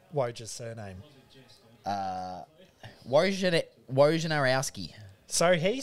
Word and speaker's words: Wojnarowski: Out of interest, Zach, how would you pronounce Woj's surname? Wojnarowski.